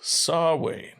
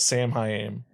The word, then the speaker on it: Samhain: talk he's oh yes saw wayne entirely too they call it samhain they mispronounce it wow i really did